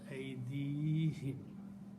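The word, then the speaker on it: أيديهم: So for the purpose of pronunciation, we pronounce aydihim.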